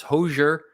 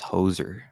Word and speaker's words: hoser: If you're just joining us, this is Hosier. Subscribe to Hosier. I think I put your link in the description. If not, just search Hosier in the search thingy. Hosier. I'd pronounce it as hoser.